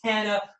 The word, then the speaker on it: Tana: It is like Hannah, but pronounced and mentioned with a T. So Tana Goertz, welcome to the show.